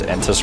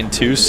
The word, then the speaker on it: Entus: You know, everybody says Entus wrong, but it's an acceptable pronunciation at this point. Yeah, it's actually Intus, you know?